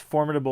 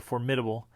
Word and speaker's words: formidable: the first one is you can pronounce it two different ways formidable or formidable right and and there